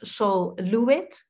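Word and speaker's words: Sol LeWitt: she works also with textile uh do you pronounce pronouns sol levitt as sol luit yes yeah so uh i love this drawing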